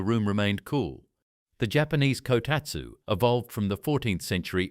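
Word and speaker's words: こたつ: In 14th century Japan, families developed a heated table called a kotatsu, pronounced kotatsu.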